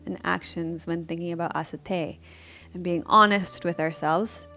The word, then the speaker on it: asteya: And a lot of you probably pronounce this one asteya, and I used to too. So asteya.